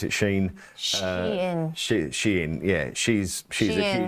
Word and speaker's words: Shein: Is that how you pronounce it, Shein?